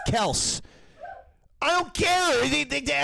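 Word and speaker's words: Kelce: mic what come here same thing as like the Kelsey's the name is actually cows he tries to tell me that the guy's name is Travis Kels I don't care anything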